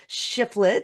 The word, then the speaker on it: Shifflett: with me today I have the wonderful shifflet did I pronounce that right you did yes okay awesome